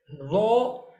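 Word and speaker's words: ر: Raw is just like the heavy letter, but you have to pronounce just like a zal.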